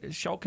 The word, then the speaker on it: Shelkons: Did I say it right? Shelkons? Yes. Okay.